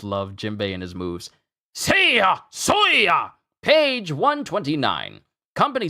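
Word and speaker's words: 星: The Kiai shout can be different for each martial artist, and one of Rekka's is the word Sei, pronounced Sei.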